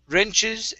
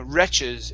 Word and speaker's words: wrenches: okay so this is wrenches and tightened riches and tiding okay now with wrenches make sure to pronounce pronounce the n because if if not then you're saying wretches and wretches are completely different okay there are people